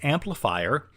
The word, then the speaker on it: Amplifr: I use Amplifier, which is it's spelled a little weird. It's Amplifr.